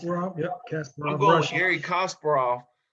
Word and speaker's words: Kasparov: Is that how you pronounce it? Yep, Kasparov.